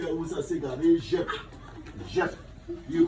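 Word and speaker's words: Djep: Jep. You call it waps, you call it what you call it, Jack Spaniel. Right. Jep. Right, so Jep is a patwa word. It's D-J-E-P. That's how it is spelled.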